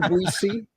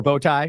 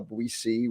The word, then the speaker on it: Boetie: Boetie or Boetie? I've heard people say it both ways. So, or bow tie, say it incorrectly.